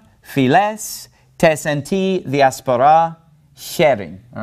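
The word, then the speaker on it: φυλαῖς: to be pronounced tess files tesenti diaspora all right so all of those alpha yota diphthongs are pronounced like epsilons okay now this word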